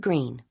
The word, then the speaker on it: Greene: My name is Green. That's green with a silent e at the end.